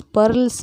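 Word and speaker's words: pearls: देखो आर से पहले अगर वोवल साउंड होता है ना कहीं पर भी, AEIOU, तो आर हमेशा साइलेंट होता है. पर्ल्स, पर्ल्स नहीं बोला जाएगा, पर्ल्स.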